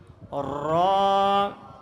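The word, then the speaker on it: ر: সময় যেভাবে জিহ্বার আগাটা কাঁপছে ঠিক এভাবে কি র উচ্চারণ করার সময় সর্বপ্রথম কি হবে জিহ্বার আগাটা একটু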